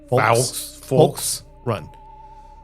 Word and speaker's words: Fulks Run: The most recent account I've found was from 2015 from, I gotta pronounce this L here. Oh, wow. Folks Run, Virginia. Okay. There's they're FULKS Run. Folks Run.